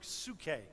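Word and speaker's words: psyche: the word soul in the Greek is a it's a word sookay if you wanted to spell it phonetically it's PS you CH e with an accent on the e and that means our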